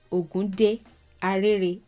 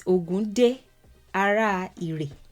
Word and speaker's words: Ògún Dé, Ààrẹ Ìrè: This one is more popular in Cuba and it's titled Ogunde Arere. That's kind of how it's pronounced in Lukumí, but it's Ogunde Arere.